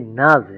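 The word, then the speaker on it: Nase: এনবি নাজে, হ্যাঁ এটার উচ্চারণটা হয় নাজ। নাজে। নাজ নাজ নাজে।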